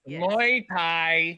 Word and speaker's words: Muay Thai: you seem to have a problem with my pronunciation. Muay Thai. Muay? Yes. Muay Thai.